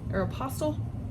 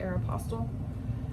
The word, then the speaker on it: Aeropostale: So I looked up vintage Aeropostale, that's how you say it, Aeropostale, cargo pants.